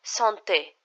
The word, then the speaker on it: santé: Le santé. Le santé. Here, when I pronounce, you can distinctly hear this A sound.